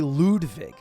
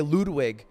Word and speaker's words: Ludwig: So yeah, find me anywhere on Ludwig Ogren, and Twitch, just Ludwig.